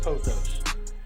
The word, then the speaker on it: pothos: Let's say it right. The correct term is pothos.